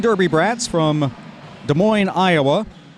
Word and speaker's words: Des Moines: from Columbia South Carolina Des Moines Derby Bratz from Des Moines Iowa the final s is silent as I were as